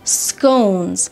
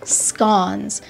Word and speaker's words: scones: second plate will have scones or scones depending on who you talk to the word can be pronounced differently you will break apart